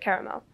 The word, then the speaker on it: caramel: butter, and milk chocolate caramel. Yes, I do pronounce it like that, because there's another A in the word, which deserves the same respect as all the other letters.